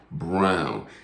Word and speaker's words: Braun: is christian brown now it's spelled braun b-r-a-u-n but they they tell me that he pronounces it brown and he is a